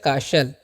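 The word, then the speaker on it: castle: तो यहां पर टी साइलेंट होता है। याद रखना है क्या? टी। इसमें का टी जो है ना साइलेंट होता है। उसका अचान नहीं करते हम लोग। ठीक है? तो इसमें हम पढ़ते हैं काशल।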